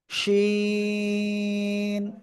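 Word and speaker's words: ش: আমরা যে অক্ষরটা শিখবো ওই একই জায়গায় জিহ্বার মধ্যখান থেকে উচ্চারণ হবে কিন্তু এখন শ্বাসা শব্দ করে উচ্চারণ হবে খেয়াল করতে হবে ওকে তিনটা নুক্তা হবে ঠিক আছে শিন তিন আলিফ টান হবে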